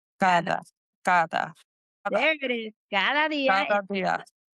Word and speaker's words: cada: Say it like the TH sound. Cada There it is.